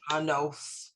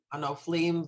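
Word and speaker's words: הנופלים: Umem shaltacha b'chol dor vador somech Adonai l'chol hanav We decided it's gonna be an O. han I know, hanoflim right, hanoflim v'zokef l'kol hachfufim right.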